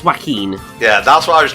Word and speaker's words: Joaquin: Oh, Wacken Phoenix. What the fuck was my mouth going through there? I cannot pronounce the man's name. The Phoenix dude, right? Yes. I believe it's Joaquin.